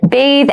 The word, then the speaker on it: bathe: Please note bathe and bath have separate pronunciations. The pronunciations are different.